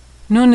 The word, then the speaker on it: Nun: Nun is pronounced N as in November. Nun is another letter that has a special final form.